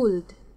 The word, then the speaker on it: Skuld: How do you pronounce Scalds? Skulds? Scuds? The Valkyrie? Skuld, Norse mythology. Skuld. Oh, it's Skuld.